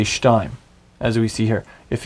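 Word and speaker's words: שתיים: That is an accent point. That indicates that that is the syllable that takes the accent. So instead of it being shtaim, it's shtaim.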